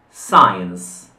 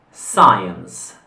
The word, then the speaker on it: science: Science. Science. Quindi la SC in questo caso si pronuncia S.